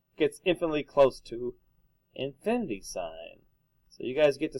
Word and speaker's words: sine: help me please mogen you don't actually pronounce announce the abbreviation it stands for something M so limit cosine sign not limb sin and cost or got it all right